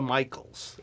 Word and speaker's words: Micheels: and I am here with Lisa Michaels and I did pronounce that correctly all right from Brown creative